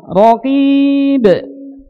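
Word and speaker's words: رقيب: Baik, contoh misalnya raqib. Raqib. Saya baca, diikuti. Raqib. Kesalahan ketika kita baca raqib. Ya. Baik. Itu ditebalkan ya, tapi yang betul ditipiskan.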